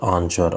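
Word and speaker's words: answer: Next question is which is the silent letter in the word आंसर, आंसर शब्द में कौन सा एक मूक अक्षर है। तो आंसर शब्द में जो मूक अक्षर है वो है हमारा W।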